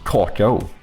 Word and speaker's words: cocoa: So we do spell it more similarly to what uh PI said, but uh I know it's like Coco, right? Cuz you don't really pronounce the A even in English, I think.